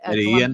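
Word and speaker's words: Medellín: Medellin. Colombia. Yeah, thank you. Medellin. Yeah, exactly. 2 L's cancel out, whatever.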